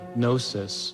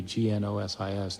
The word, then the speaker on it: gnosis: Gnostic comes from a Greek word gnosis spelled with a G g-n-o-s-i-s gnosis which means knowledge these